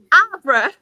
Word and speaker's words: Harborough: Abra. Rebecca. You cut out as you said it. What were we saying? Yes, So it's spelled HARBOROUGH, but obviously me being me pronounces it Abra.